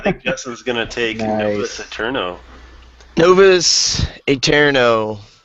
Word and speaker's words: Novus Aeterno: Justin's gonna take eterno novas eterno I think that's how you say it anyways it's one of those AE things um so this game